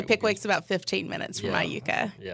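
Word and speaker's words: Iuka: So I grew up in Aayuka, Mississippi.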